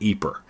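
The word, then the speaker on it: Ieper: IE p r and they pronounce it eer so that's typically what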